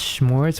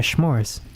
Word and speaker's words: s'mores: Wait, you pronounce s'mores with an H? Yeah, s'mores. Is that not how you pronounce it? S'mores? I think that's just how Canadians say s'mores. It's with the H.